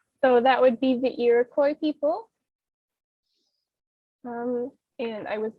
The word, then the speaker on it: Iroquois: this name is that it is french but you know as americans we don't pronounce it in the french way we've created our own